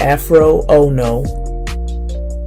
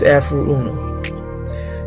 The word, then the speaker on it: Afroo Oonoo: It's not Afro Ono. It's not Afroo Oonoo or Ono to the Afro. It's Afroo Oonoo.